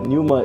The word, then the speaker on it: Pneuma: dud here and welcome to another let's play Numa so I know how to pronounce it because like it's said in the thing me before this screen right here it's said that Numa is a Greek word I don't care okay